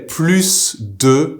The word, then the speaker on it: plus: the word PLU p-l-u-s we usually do not pronounce the ending s except in this instance here we just say plus de with the S pronounced